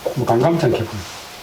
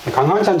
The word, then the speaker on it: 강감찬: 사회성이 있기 때문에 많은 사람들이 엉터 부르면 엉터 발음하면게 따라가야 됩니다 표중 관이인데 강감찬 강한찬 장 뜨면 아무도 망하 러니까 갈 수 없이